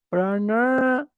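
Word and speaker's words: prāṇāyāma: Y cuando la N tiene un puntito abajo, es retroflexa, la lengua se lleva para atrás. Entonces la pronunciación correcta sería pranayama, pranayama.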